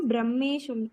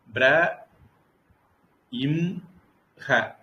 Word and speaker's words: ब्रह्म: வாயு இப்ப இஹு இங்கேயும் பிரஹ்மேன்னு சொல்லணுமா பிரம்மே சொல்லணுமா குருஜி? பொதுவா அந்த வன்னிங்கிற இடத்துல நான் ஒரு பழக்கத்தை வச்சுதான் சொன்னேன். ஆனா இந்த பிரம்மங்கிற இடத்துல 100% உறுதியாக இலக்கண விதிகளோட என்னால சொல்ல முடியும். பிர இம் ஹ அப்படித்தான் அந்த உச்சரிப்பு. பிரம்ம.